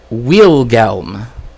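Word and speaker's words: Willelm: right in the biotapestry it actually is willm it's not William it's like willm cuz you know in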